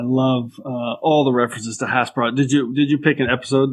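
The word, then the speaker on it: hasperat: It's a burrito, and I love Hasparats, so fantastic. Yeah, Hasparat, that's how you say it.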